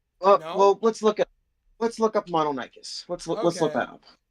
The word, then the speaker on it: Mononychus: Mononychus. That's how it's pronounced.